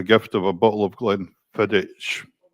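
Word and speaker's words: Glenfiddich: Oh, and he used to get a gift of a bottle of Glen Fedich. Glen Fedick. Scottish pronunciations.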